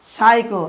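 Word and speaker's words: psycho: তারপরে উদাহরণ দেখুন পিএস ওয়াই সিএইচও উচ্চারণ কী করবো আমরা সাইকো। দেখুন পিএস উচ্চারণ হচ্ছে কি দন্তস্ব সাইকো।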